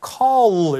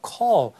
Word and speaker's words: call: 그래서 call 이렇게 하는 게 아니라 그냥 call. 혀가 이렇게 올라가다 말아요. 대충. 그래서 발음이 좀 명확하게 안 되죠.